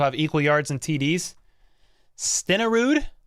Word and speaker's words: Stenerud: equal yards and TDS stenarood that's how you say it Jan stenerud that's a hard one it's the Norwegian name it's tough don't pursue